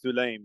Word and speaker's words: Sulaim: it wrong and say, no, no, no, it's Sulaim, not Yeah. Salim, or he'd Yeah.